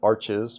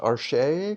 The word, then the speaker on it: Arches: Yeah, it's um in the US a lot of people call it Arches, but I think it's technically pronounced Archer because it's a French originally French company.